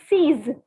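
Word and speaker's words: six: So the pronunciation is not 6, but the pronunciation is seize. Seize. Okay, it's not 6, it is seize. Like seize the moment, seize the opportunity, seize. So the through a catch sang seize.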